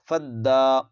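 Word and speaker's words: فداء: کے ساتھ ملائیں گے، یہ الف نہیں پڑھا جائے گا، فد، دال کھڑا زبر دا، فدا، را حمزہ زبر را،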